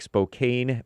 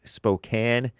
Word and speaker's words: Spokane: It looks like Spokane, but is pronounced Spokane, Washington State.